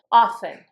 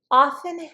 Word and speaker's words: often: Often, often. Often has two acceptable pronunciations. The way I pronounce it, I don't say the T, often.